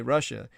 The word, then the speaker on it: Russia: When Americans say Russia, the first and second syllable rhyme.